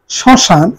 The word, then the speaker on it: শ্মশান: শ্মশান, একটু অনুনাসিক হবে, ভাষানুনাসিক।